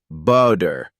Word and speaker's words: butter: focusing on American English the flap T occurs when the T sound in the middle of a word sounds more like a quick D for example the word butter is often pronounced as butter in American accents similarly water might sound more like water this doesn't mean the T disappears it's it's just softened into a sound that's less sharp you'll hear it in